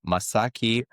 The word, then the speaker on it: Masaaki: Um full name Masaki. That's correct. Did I pronounce it correctly?